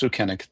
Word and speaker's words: Sukennik: it's Sukennik. Yep, close. Sukennik. Perfect.